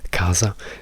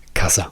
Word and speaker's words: casa: L'accento è sulla prima sillaba. Non diciamo casa. Se dicessimo casa l'accento sarebbe sulla seconda sillaba, quindi la seconda sillaba za sarebbe la più importante. Ma per puro caso la sillaba importante in questa parola è K.